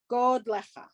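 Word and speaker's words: גדלך: I don't know if you noticed that underneath the Gimel is a kamatz katan, meaning it's the O sound of the kamatz, right? God lecha, not God lecha, God lecha.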